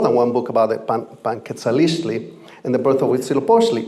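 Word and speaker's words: Panquetzaliztli: the tradition of and it's called Panquesalistli, and I'm actually mispronouncing it because there's another Z or a T somewhere. I'm going to get it right this time. It's called, Panquetzalistli.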